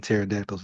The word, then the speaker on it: pterodactyl: have no idea nothing because the p in pterodactyl is silent that's a good one